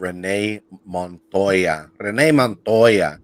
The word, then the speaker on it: Renee Montoya: Oh man, you got that Batman 475 DC 1992 first appearance of Renee Montoya.